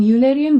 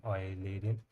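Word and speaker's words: Eulerian: Unlike Oilerian graph in Oilerian I think that is the pronunciation. An ulerian graph. UAN we will call it Oilerian.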